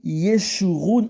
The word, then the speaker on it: Jeshurun: Dans la lettre J est l'équivalent de la lettre hébraïque Y qui se prononce avec le son Y.